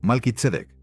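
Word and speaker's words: מלכי־צדק: En hebreo, Malkitzedek. Desglosa esas sílabas y encontrarás dos palabras explosivas.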